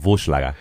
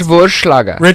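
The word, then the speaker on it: Wagner: the show right now it's V it's a v the so it's not wer it's Vaga it's Vaga right I I only trust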